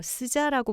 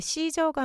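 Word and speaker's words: SZA: 어 스자라고 부른 사람들도 있는데 시저가 맞는 발음이라고 하고요.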